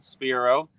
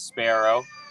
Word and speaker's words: Spiro: all about birds so my name is Spiro although often it is pronounced as Sparrow I'm not sure if